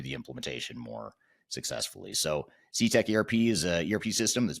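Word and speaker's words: Cetec ERP: So CTech ERP is an ERP system that's built for proactive manufacturers who want to get things done.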